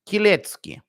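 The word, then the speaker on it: Kielecki: Kilecki, pronounced Kilecki.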